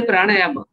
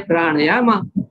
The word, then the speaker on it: pranayama: And we say pranayama. They say pranayama, pranayama.